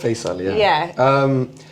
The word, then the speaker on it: Faisal: Because you were telling me about your name, how to pronounce it correctly. Yeah, Faisal, my name, which name?